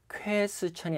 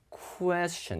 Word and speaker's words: question: 우리가 질문할 때도 question이 아니라 question 이렇게 발음하거든요.